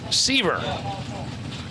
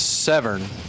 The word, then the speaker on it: Sever: You couldn't pronounce that. Well, it's it's spelled like Siver. That is Sever. But it's Sever.